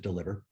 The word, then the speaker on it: DLVR: the ceo of deliver spelled with no vowels so dlvr but we pronounce it deliver and what we do